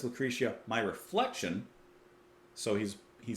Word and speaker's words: Lucretia: then we don't doubt we don't take Direction Lucretia that's how we pronounce it in the song My Reflection dance